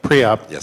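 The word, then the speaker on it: PREOB: for um pre preo is that the right way to pronounce it preup yeah preup in um in non-union uh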